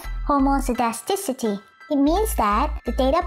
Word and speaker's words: homoscedasticity: Homocidacity? What's that, Hermione? It's pronounced as homocidasticity.